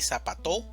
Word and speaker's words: zapato: Pensemos por un momento dónde está la mayor fuerza de voz y vamos a hacer la división silábica. Tenemos sa, pa, to. Entonces, ¿dónde hacemos mayor fuerza? En la sílaba pa, zapato. Si fuera en la primera sílaba sería zapato, o si fuera en la última sería zapato, pero no decimos ni zapato ni zapato, decimos zapato.